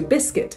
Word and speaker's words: biscuit: that it spells very close to biscuit so they have a silent U both words okay so circuit and